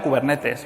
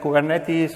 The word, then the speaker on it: Kubernetes: Bueno yo lo llamo kubernetes O sea si lo escucháis por ahí por YouTube la gente anglosajona dice kuber netis o cosas parecidas pero viene del griego Así que debe ser